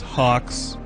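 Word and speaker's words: HAWX: This is Tom Clancy's Hawks, spelled with an X.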